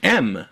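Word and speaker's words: ん: W and E and the Japanese which is pronounced as an m m if it comes before lip consonants like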